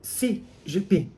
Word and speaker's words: Xi Jinping: Partido Comunista Chinês chamado Si Jipim. Embora se escreva Xi, se pronuncia si jipim.